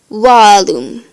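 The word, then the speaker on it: vallum: In classical, it's always pronounced like the English wa, like this word, walum, which means wall.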